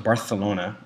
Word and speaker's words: Barcelona: Well, first of all, it's pronounced Barthelona, like a lisp.